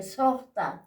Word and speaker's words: sojhta: del hombre softa aquí Sota se pronuncia Sosa que significa seis hakiri